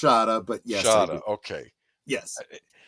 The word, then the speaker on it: Shada: Shada with the snake at the end it's pronounced Shada but yes sh okay yes the the snake